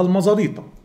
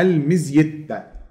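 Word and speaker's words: Meseta: في هضبة اسمها هضبة المزيتة، وهتلاقي مثلا ساعات حد يقول لك المزيتة بس هو هتنطقها المزاريطة. المزاريطة ده يبقى كده مسلسل الكبير، احنا انا مش في المسلسل الكبير، اسمها المزيتة.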